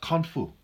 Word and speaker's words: Kung Fu: So Khan Fu is pronounced Kung Fu.